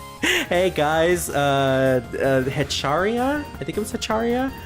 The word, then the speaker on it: Hecatia: Hey guys, Hecharia? I think it was Hecharia? Hold on, I can scroll back in the chat to find it at some point. Hecatia, it's Hecatia, yes.